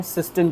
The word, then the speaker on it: cistern: ठीक है, देखिए आइए बात करते हैं सिस्टन के बारे में।